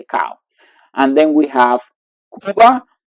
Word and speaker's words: Cuba: And then we have Cuba, and you can see that the pronunciation will be Cuba. It's not like some people in English will say Cuba, Cuba. No, it's Cuba, Cuba.